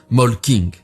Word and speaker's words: Molching: une petite ville nommée molching que vous et moi prononcerons plutôt molking c'est à cet endroit